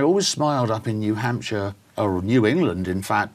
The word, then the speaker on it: Hampshire: is say Hampshire notice notice I said sure at the end in the UK we pronounce it sure so it's Hampshire okay Dorset sure not